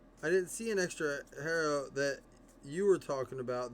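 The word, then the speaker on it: Herro: Hero. His last name's Hero.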